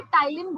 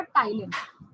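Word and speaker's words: ptyalin: तो उसमें क्या था कि पहले से टाइलिन बोलते थे, ठीक है.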